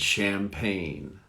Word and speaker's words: champagne: So we have a soft and a long. Champagne. That champagne has a soft A and a long A, a short A.